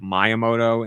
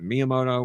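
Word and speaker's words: Miyamoto: Um, and I used to say myamoto instead of miamoto, which is just wrong.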